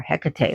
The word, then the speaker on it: Hecate: I know some deities like Hecate or Hecate like garlic, but I pronounce her in the Greek name of Hecate.